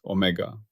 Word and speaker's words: omega: Its symbol is the Greek letter omega, pronounced omega.